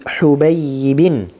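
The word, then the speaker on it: حُبَيِّب: Dengan dhammahnya ha yang tiada titik. Jadi ini cara bacanya begini ya. Saya awalnya baca Habib kemarin.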